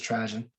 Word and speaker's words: Trajan: I think it's Trajan, like Trojan.